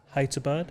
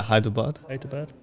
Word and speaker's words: Hyderabad: you say that sorry hyderabad high to bird yeah hyderabad yeah and uh it